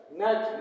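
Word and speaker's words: gnat: इसम जी साइलेंट है जी को उच्चारण में नहीं लाना है जी ए ए लिखना तो है लेकिन उच्चारण में बिल्कुल नहीं लाना है जी एन एटी क्या हो जाएगा नेट नेट मीस मच्छर नेट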